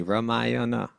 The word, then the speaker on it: Ramayana: Ramayana.